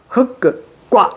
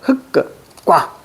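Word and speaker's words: 흙과: 리을 기억은 뭘로 발음한다? 뒤에 걸로 발음한다. 흑과 이렇게 가셔야 돼. 흑과.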